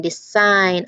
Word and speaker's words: design: And how about silent G? There's sign, design, align. That G is doing nothing at all.